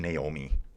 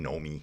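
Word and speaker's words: Noemi: Wonder if it's just actually Naomi. It just spelled that way because I keep saying Nomi. Nomi Rug. Naomi Rug. Come on, some Swiss people, just crucify me here. Tell me I'm saying it wrong and I'll just ignore you.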